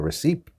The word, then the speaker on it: receipt: pronouncing here is receipt it's got a P in it but of course that P is silent now don't get upset and don't ask me why there's a P in there I don't know I don't create English I just teach it alright but in many words there are silent letters and we don't pronounce them it just makes the spelling